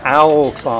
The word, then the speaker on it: Owlborn: Owlborn Tea Rooms. How do you pronounce that? Say it again. Owlborn Tea Rooms. Owlborn. Owl. Okay. As in the birdie.